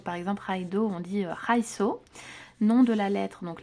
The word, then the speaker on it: Raido: rune on a la prononciation comment ça se prononce donc par exemple Raido on dit raiso nom de la lettre donc la lettre R